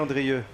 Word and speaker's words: Andrieux: So Xavier Andrieux. And the last X you don't pronounce.